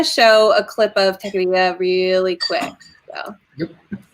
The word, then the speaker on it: Techqueria: And David, do you want to tell us a little bit more about what Techqueria is? So some people don't get the pronunciation.